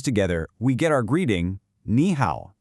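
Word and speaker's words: 你好: When two third tones are together, the first one changes into a second, rising tone. So even though it's written as ni hao, it's always pronounced ni hao.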